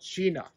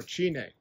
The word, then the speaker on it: China: It's called China or Chine, pronounced these different ways.